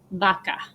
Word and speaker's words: vaca: your examples right so when the v is followed by an a or an e it sounds like the soft sound so the color green is verde and cow in spanish is vaca okay so you don't say